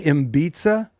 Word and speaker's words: Ibiza: to Ibiza or wherever the hell he's going, and we Did you say Ibiza? Ibiza. Ibiza. I don't. I pronounce it like a native Interesting 'Cause way to pronounce Florida Keys.